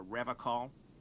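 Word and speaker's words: Revachol: to stay strong for rev call you mean rol he pronounces revon with a hard K unlike other people you said the r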